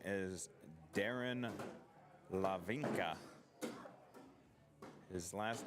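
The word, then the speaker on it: Hlavinka: His name is Darren Lavinka. His last name is spelled with an H. H L A V I N K A. So, silent H. Telling you how to pronounce his name.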